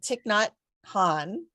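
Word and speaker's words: Thich Nhat Hanh: I don't know how to say his name tick not Han I'm gonna do that how's that was that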